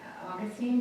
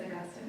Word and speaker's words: Augustine: It's Saint, and I always said it, Augustine, but I think it's Augustine, right?